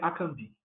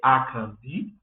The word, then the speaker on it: Akambi: Ali nós temos dois tons baixos e um alto, que vai indicar a maneira correta de pronunciar o meu nome. Ele não é akambi, nem akambi. É akambi, desta maneira.